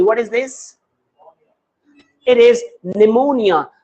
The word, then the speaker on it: pneumonia: Such as if I write here P N E U M O N I A. What is this? It is pneumonia. Here this P is silent. It does not have any sound here in this word.